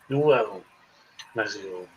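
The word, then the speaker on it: Nuevo México: That's how they say it in Espanol. New Mexico. Nuevo Mexico.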